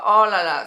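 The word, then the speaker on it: oh là là: said naturally oh la oh la la so pronounce it oh la la oh la la H H laa so that's the way you can pronounce it in French so you can use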